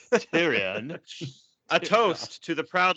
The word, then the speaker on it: Tyrion: where uh Tyrion so Tyrion says uh that's how it's pronounced tyrian a toast to the